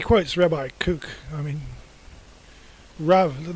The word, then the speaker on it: Rav: I mean, Rav. Notice Rav Kook instead of Rabbi, because they're in the habit of pronouncing a B as a V, which is actually not which is important for the subsequent discussion.